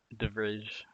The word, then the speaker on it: de Vrij: backs like Van Dijk, De Vrij. I'm pronouncing it wrong, but Devrij or IJ.